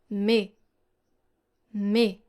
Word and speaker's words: mais: So normally, words like mais or un are actually having a silent S and a silent N. Listen carefully. Mais, mais. Un, un. So here you don't hear the sound S and you don't hear the sound N. However, with a liaison, you